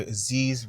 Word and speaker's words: Aziz: It's your boy Aziz, rhymes with disease, back for another video.